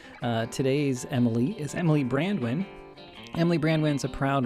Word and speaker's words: Brandwin: amazing because I think it's a really easy last name to pronounce it's just like two words throughout my entire life they're like brandy wine brand wine I'm like I don't